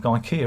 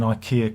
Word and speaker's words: IKEA: how to assemble an ikea cabinet ikea not ikea it's ikea you gotta say it properly because everyone will get you in the comments ikea not ikea ikea